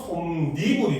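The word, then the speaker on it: 솜이불: 유로 발음 한다라는 거죠 그래서 솜과 이불이 합쳐져서 솜니불이 됩니다 요런 거 시험에 잘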